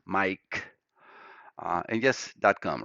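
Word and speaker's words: Maic: My name is spelled M-A-I-C and sounds as Mike and just .com, right?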